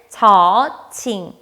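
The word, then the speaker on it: ฉ: 두 번째 글자는 'Ch' 발음 이 나 는 'Cho Ching' 입니다 . 그것 은 ' 초칭 ' 입니다 .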